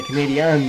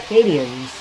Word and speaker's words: Canadiens: And that's how they say it, because I watch hockey, and these Canadians all say Canadiens. It's not Canadians.